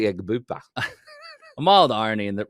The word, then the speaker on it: Egbuka: the season he's like, it's actually Egbuka.